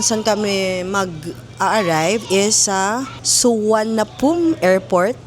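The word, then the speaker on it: Suvarnabhumi: Yung airport kung saan kami mag-arrive is sa Suanapum airport. Yun daw iyung basa doon pero ang spelling niya is parang Suvar na boomi. You can pronounce it as Suan na pum airport.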